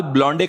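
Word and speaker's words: blonde: अपने बाल ब्लॉन्डे कराने गई है चुड़ैल। वो ब्लॉन्डे नहीं, ब्लॉन्ड होता है।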